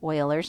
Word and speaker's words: Euler: it does not repeat e is euler's number so it's pronounced like oil euler's number and that's the